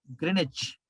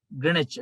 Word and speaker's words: Greenwich: green h w silent greenwich next to london uk uk it is pronounced as grenache in uk english uk english greenwich w silent w silent please sponsor us greenwich